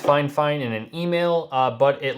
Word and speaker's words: FIFINE: called fine fine they told me it is pronounced fine fine in an e-mail but it looks like it's pronounced fie fine or fie fine but they told me fine